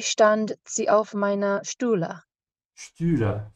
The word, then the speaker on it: Stühle: Stühle. Stretch your tongue forward. Stühle.